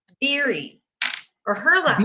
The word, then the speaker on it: Beery: Beery or her last Beery, like beer, like Beery. like a beer. Okay, so I kept saying Berry.